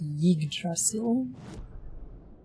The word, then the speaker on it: Yggdrasil: It's pronounced Yggdrasil.